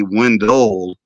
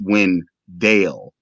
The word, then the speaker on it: Wendell: name because when they'll say people will say one goal and that's not how my name is pronounced it's when dale so it gives a little umph to it